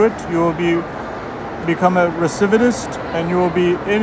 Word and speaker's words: recidivist: Recidivist. Wow. I think I might be pronouncing it incorrectly.